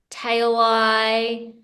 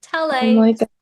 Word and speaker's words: Talei: it written on paper it's spelled t a l EI but I've had that really throws up some interesting um pronunciations so I've had t t tail ey so it's it's I'm